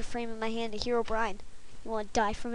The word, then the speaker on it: Herobrine: doing a herobrine mod the correct way to say it is herobrine what this mod offers